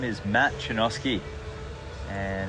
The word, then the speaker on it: Chojnacki: My name is Matt Chojnacki, and it's a Polish surname. It's actually pronounced Chojnacki in Poland, and my first name